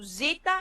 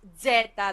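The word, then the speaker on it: ζήτα: understand this I mean normally the letter the name of a letter starts the starting is the sound as well so Epsilon it's a Epsilon so Zita is the I mean this is the the logic for with the alphabets to give you the name and the first the first letter of the name of this alphabet indicates the actual sound of this letter um so I don't get white there is Zeta the letter n z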